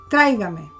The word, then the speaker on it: tráigame: But then it's bring me, tráigame. So see, we have three syllables. Tráigame. Okay? But the accent still falls on the same place where the original verb was.